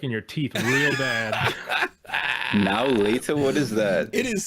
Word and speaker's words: Now and Later: Now later. Now later.